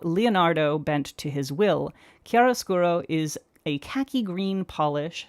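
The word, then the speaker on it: chiaroscuro: Okay, so the second one up is Kiarasuro. Uh, what? Huh? What? Kiarosuro key. Not chi, not chai. key kiarosuro.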